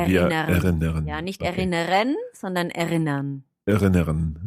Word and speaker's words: erinnern: So it's best if you don't really pronounce the R at the end. You just make a sound.